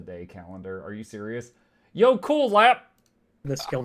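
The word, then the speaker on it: jökulhlaup: A jacalhop which is pronounced yo cool lap is a sudden and catastrophic flood caused by a glacial lake breaching its dam and draining.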